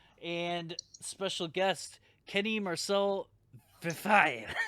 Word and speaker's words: Verfaillie: French, like a Yeah, it's basically like when you can pronounce Desailly, It's like, so you can say like Verfaillie.